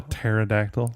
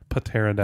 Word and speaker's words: pterodactyl: But the thing is, I think I knew that the P in pterodactyl was silent, but then I just like saying pterodactyl.